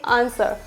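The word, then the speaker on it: answer: जाए एस के बाद डब्लू आ जाए तो डब्लू क्या होगा यहां पर साइलेंट होगा जैसे कि आंसर आंसर sort आंसर sort यहां पे डब्लू साइलेंट तो क्या बोलेंगे इसे एस पढ़ेंगे और ओ आरडी तो क्या हो जाएगा सॉट यहां पे आंस और अर आंसर क्या हो जाएगा आंसर नेक्स्ट वन इज यदि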